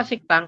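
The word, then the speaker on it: 식당: Rang rangkap seperti ini jadi teman-teman bacanya bukan sikdang tapi siktang seperti itu Maksudnya seperti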